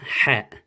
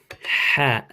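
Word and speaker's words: ح: Okay, so the Ha is like a H, but it's coming from your throat.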